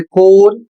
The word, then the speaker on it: corps: अगला शब्द है CORPS और इसे पढ़ा जाता है कोर, इसकी हिंदी होती है सेना दल।